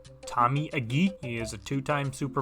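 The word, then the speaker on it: Tommy Agee: he's the one who made me realize it's pronounced Tommy AG he has a grand total of two touchdowns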